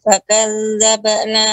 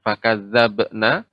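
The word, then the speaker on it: فكذبنا: Qalu bala qad ja'ana nadhirun fakadzabna wa qulna. Fakadzabna. Sebentar, Ummu. Ba qalqalah, maka bukan fakadzabna, akan tetapi cukup dipantulkan.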